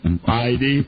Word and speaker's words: Heidi: Now, I don't pronounce the H. Heidi.